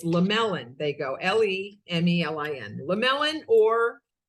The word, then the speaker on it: Lemlin: the e in the middle confuses everybody it's lamellan they go l-e-m-e-l-i-n lamellan or lamolin so funny right so my name lemlin